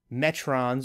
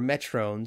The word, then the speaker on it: Metron: So there's two different pronunciations that happen on this show. So the Metron they call themselves the Metrones. Yeah. But Spock and Kirk call them they call them the actually the aliens call themselves the Metron. Yes. And Kirk and Spock seem to call them the Metrones. So a little bit different pronunciation here.